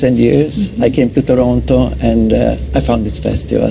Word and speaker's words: Toronto: You can tell, because look how he said Toronto. Toronto. He just said in Toronto. That's right. the tell. That's if you pronounce the last T, you don't know much about Toronto.